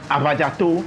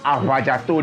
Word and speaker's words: Afadzato: Anyway, so the V, the Germans couldn't pronounce the V, which is funny because they have some versions of Ewe in their language is, well, long and short, they couldn't pronounce the V language, so they decided to make it F.